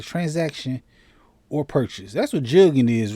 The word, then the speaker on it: jugging: Jugging rhymes with mugging and spread from Texas to South Carolina, Fox News senior correspondent Blase said on American Report Friday.